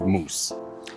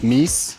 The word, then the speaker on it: moose: What is the correct way to say the plural of moose? Moose. Moose? Moose. Not meese? Just moose.